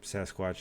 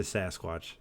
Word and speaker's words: Sasquatch: yeah yeah that uh Sasquatch is like a mispronunciation or a European mispronunciation of a native term like I think it's called sasquette Sasquatch oh yeah so it's like s-a-s-q-e-t something like that so it's like Sasquatch yeah best watch says